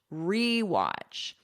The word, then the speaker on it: rewatch: And notice for pronunciation, e. I'm not doing like a schwa sound, watch. American pronunciation, we love our unstressed schwa sound in our throat here, but I'm not doing that. This is a full e, rewatch.